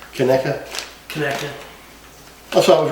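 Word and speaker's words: Conecuh: to be eating two pounds of tonica otherwise pronounced kaneka no bailey you're you're twins where's its coney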